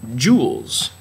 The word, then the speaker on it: joule: learned that yet energy is usually measured in joules it's not spelled with a double you like jewelry it's spelled